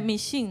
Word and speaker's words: ミシン: 喺日本的發音係迷信啊！